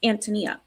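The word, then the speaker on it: Ántonia: And so, it's the Czech pronunciation. And the Czech pronunciation is Antonyia.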